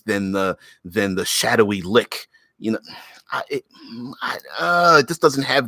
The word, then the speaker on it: lich: I won't change it unless it's Lich in which case I refuse to change the way I pronounce it anyway in which is it lick lick lick yeah it's a litany I find sometimes I find certain pronunciations are narrative ly good love you baby yeah yeah record says yes lick yeah see I prefer